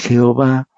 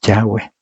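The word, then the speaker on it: Yahweh: politeístas y la segunda el nombre de Dios no es Jehová porque no existía esa pronunciación en ese tiempo es yahwe así que dos cosas que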